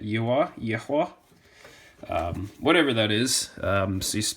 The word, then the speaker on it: Yihua: So this is a Yihua, I think is how you say it, Yihua.